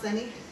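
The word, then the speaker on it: Sonny: And I'm really hoping that this is pronounced Sunny, even though it's spelled with an O.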